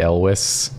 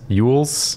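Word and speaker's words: Elwes: that connection with uh Carrie Elis Elis ules ules Carrie ules his name is spelled Elis it is yeah yeah he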